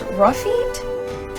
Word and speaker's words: Lafitte: Now we have Lafitte, whose name I learned is pronounced Rafit.